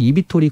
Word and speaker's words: eVTOL: EVTOL이라고 읽거든요. EVTOL이라고 네, 뭐예요? EVTOL. Electric, EVTOL.